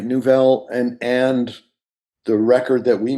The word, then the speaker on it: Newvelle: It wouldn't have come about without the involvement of Nouvelle, which is, we keep saying Nouvelle. This is an audio medium, so I'll just spell it. It's Newvelle, which, Elan, I'm sure you get questions about that all the time.